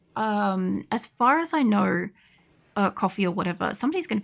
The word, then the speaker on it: Ko-fi: far as I know, coffee or whatever, somebody's going to be like at me about this seriously because I keep calling it Ko-fi. I only learnt about it, and I'm like, oh, it's like Wi-Fi, but it's Ko-fi kind of thing.